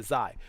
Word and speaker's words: Xi: It's called XI. That's how you spell it. And as far as I can recall, and you want to double check this on Google, get a tool to pronounce it, but Xi. That's the way I believe you do it.